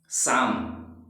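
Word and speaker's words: psalm: अभी देखिए जैसे हमारा ये क्या है, शाम है ना, शाम। अब आप कहेंगे सर पहले तो पी लिखा हुआ है, तो बिल्कुल आप घबराइए नहीं, मैं इसके बारे में बताऊंगा पी कब साइलेंट पढ़ा जाएगा।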